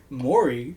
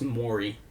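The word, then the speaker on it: Maury: person who says that no Mory really where's the o and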